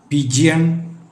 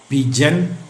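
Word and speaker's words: pigeon: ഹായ് നോട്ട് ഹി അടുത്തത് പി ഐ ജി ഇ ഒ എൻ പ്രാവ് പിജിയൻ പിജിയോൺ എന്നൊക്കെ പറയാനുള്ള സാധ്യതയുണ്ട് ഇതിൻറെ ശരിയായ ഉച്ചാരണം പിജൻ എന്നാണ് പിജൻ ഡി ഇ എൻ ജി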